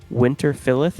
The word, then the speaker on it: Winterfilleth: And then kind of, do you know the band Winterfilleth? Winter what? Winterfilleth. It's Fylleth. What the fuck? Spell it again? Winter, like Winter, Yep. and then Fylleth. Winterfilleth.